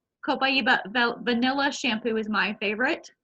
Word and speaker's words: copaiba: daily shampoo and the copaiba or cobai eva some people depends on who you talk to how it's pronounced copaiba vanilla shampoo is my